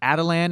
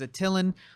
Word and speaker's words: Attilan: the of the world of adilyn as how they pronounce it I've always read it in the comic books as at Ilyn that's a dumb thing but I'm still like adilyn doesn't sound as cool as Attilan I don't know maybe